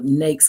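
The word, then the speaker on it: NAICS: Also, NAKES codes. So N A I Cs is pronounced nakes.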